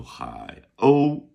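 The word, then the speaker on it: 海鸥: And we turn it over and we go hi. Oh. Oh. How might you spell that, Pinyin masters? Hi. H-A-I, third tone. O. O-U, first tone.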